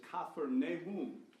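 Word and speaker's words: כפר נחום: Nahum, and it's actually, in the Hebrew, the Old Testament pronunciation of the city was Kafar Nahum. It's the city of Nahum.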